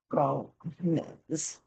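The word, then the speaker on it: Gómez: It's got to have the accent on the front. Gomez.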